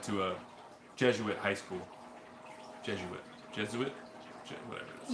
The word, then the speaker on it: Jesuit: Jesuit? Whatever it is. You should know how to say it since you went there. Jesuit. 3 syllables.